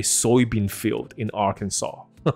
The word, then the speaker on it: Arkansas: 哇塞 ,OK, 所以阿肯色州知道一下 Arkansas, 它的 SAS 后面的 S 是不发音的 ,Arkansas。So this strange placement occurred because of the Mississippi River's ever-changing course.